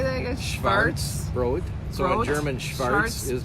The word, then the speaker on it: Schwarzbrot: Schwarzbrot.